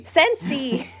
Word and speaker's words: Scentsy: Scentsy.